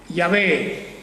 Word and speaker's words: Yahvé: de ese Dios Elohim es Yahvé, o como se pronunciaba antes, Jehová, Yahvé. Ese es el nombre propio. Él dice, mi nombre es Yahvé, así es realmente como decirlo, yo soy el que soy.